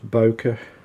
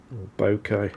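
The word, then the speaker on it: bokeh: them these days down not Boca bouquet now if you want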